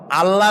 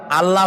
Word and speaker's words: আল্লাহ: আল্লাহ নয়, কিন্তু আল্লাহ হচ্ছে অশুদ্ধ, শুদ্ধ হচ্ছে আল্লাহ। বলার সময় মুখটা গোল হয়ে যাবে।